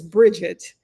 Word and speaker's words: Brigitte: and they were like the English pronunciation of her name is Bridget and I'm English.